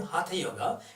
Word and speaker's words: hatha: is hot yoga practice hot yoga I'm saying hatha yoga it is a real pronounced it not ah ha ha ha ha